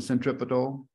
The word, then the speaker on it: centripetal: Right here at the zero point, this is where the water goes from centripetal force and also known as centripetal pronounced. I pronounce it centripetal.